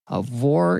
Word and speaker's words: Aurore: "In case you didn't know, Aurore is a confusing name my mom picked for me because it sounded cool. A lot of people don't know that the R-E at the end is silent.